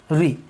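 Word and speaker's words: ऋ: लेकिन वर्तमान में इसका उत्तर भारत में री उच्चारण किया जाता है, और दक्षिण भारत में इसी का उच्चारण किया जाता है रू, इस प्रकार से, या फिर थोड़ा और इससे मिलता जुलता होता है ना।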